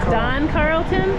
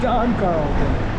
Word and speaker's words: Dann Carlton: do Dam Carlon that Don Carlton Don Carlton it says Dan it's Don okay it's spelled Dan but pronounced Don got it oo look